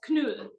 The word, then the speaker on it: Kneull: Her name is Rupa Kneull. I know it's German, so am I pronouncing it? Don't worry, it's Kneull.